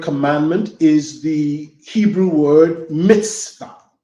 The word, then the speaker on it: mitzvah: This word commandment is the Hebrew word mitzvah. It's spelled M-I-T-Z-V-A-H.